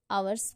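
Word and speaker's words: hours: आ रहा है, तो इसलिए H साइलेंट है यहाँ पे, आवर्स का आ साउंड आ रहा है, तो यहाँ पे AN लगेगा।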